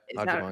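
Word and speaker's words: Agyemang: So my third would probably be a Jamong and Ajimong. Yep, Ajimong, yeah. That's how you That is pronounce the it.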